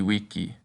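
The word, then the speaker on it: vici: And the letter V is pronounced like a W, so it's weni weedy wiki.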